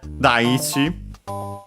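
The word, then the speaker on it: 大地: Daichi, accented on the first syllable.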